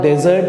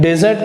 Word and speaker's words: desert: तो वो कहेंगे नहीं, डेजर्ट का है राजस्थान में। और वहां जाकर के आप कह रहे हैं कि यार डिजर्ट जाने का दिल कर रहा है, तो डिजर्ट जाने का नहीं है, खाने का है।